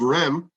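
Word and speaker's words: Reims: like me who don't speak French well it's pronounced n uh which means that the city of REM RH e Ms REM that the city of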